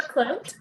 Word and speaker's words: Clote: So I'm Clote, rhymes with float if that's helpful.